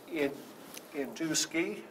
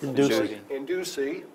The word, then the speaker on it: Indusi: Okay, with me today is the club president, Induski. I said it wrong. Indusi.